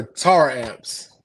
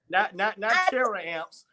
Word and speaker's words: Taramps: Is it Taramps or Tar amps? It is Taramps. Okay, Taramps. Not Taramps. I, terror amps.